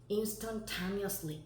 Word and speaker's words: instantaneously: instantaneously 읽어보자. instantaneously. 강세가 좀 보기 힘드니까 빨갱이로 올게요. instantaneously 여기로 오면 돼요. instant까지 갔어.